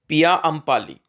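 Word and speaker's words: Paiyampalli: और important site है पाइया पी ए आई वाई ए पाया अंपी या इसको ऐसे भी प्रोनाउंस कर सकते हैं पिया अंपाली पिया अंपाली कहां पर है तो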